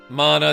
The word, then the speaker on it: mana: The Mana Fortress is using up most of the world's mana. Which is how we pronounce it, by the way.